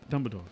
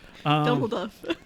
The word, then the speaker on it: Dumbledore: What do you keep calling him? Dumbledore, right? Dumbledore. Yeah. What am I saying? Saying it wrong. Whatever. You put an F in there.